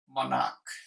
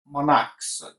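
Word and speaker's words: monarch: যেমন আমি বলতে পারি মনাক। ওকে, মনাক। তাহলে এটাকে আমরা যদি প্লুরাল করি, দেখেন আমি কিন্তু উচ্চারণ করছি মনাক। ওকে, ওকে, ক উচ্চারণ করছি, আমি তো মনাচ উচ্চারণ করছি না, মনাক্স।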